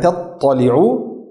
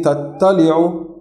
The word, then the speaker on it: تطلع: Tattali'u, huruf ta sama huruf ta makhrajnya sama, tapi sifatnya beda. Tidak, ya, tempatnya sama, tapi sifatnya beda. Karena itu tidak boleh membaca allati tattali'u. Tattali'u dua-dua tebal.